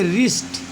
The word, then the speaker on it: wrist: बाद R आया है, इसलिए यहाँ पर W अक्षर साइलेंट रहेगा और इस शब्द का उच्चारण अगले अक्षर से अर्थात R से उच्चारण करेंगे, इसलिए इसे पढ़ेंगे रिस्ट।